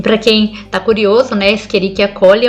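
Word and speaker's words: Escherichia coli: aí o monge fala esqueriquiacoli mas todos os meus colegas falam echerichia aí o monge fala você quer falar corretamente ou não caramba a gente se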